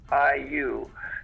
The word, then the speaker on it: Liu: Alyssa, and I don't know how to pronounce her last name. It's Liu.